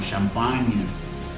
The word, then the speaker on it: champagne: La GN, este es un sonido que nosotros hacemos en español, pero nosotros lo ponemos con la ñ. Entonces cada vez que tú te encuentres una GN, vas a pronunciarlo como la ñ nuestra del español.